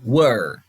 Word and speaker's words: were: Pessoal, olha a pronúncia, não é were, como a gente já viu onde, né, W-H-E-E-R-E, where. Não, were, ok?